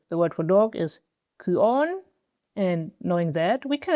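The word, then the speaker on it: κύων: And I want to point out that this Y here, the Greek upsilon, is actually pronounced ü, like a German ü or a French ü for that.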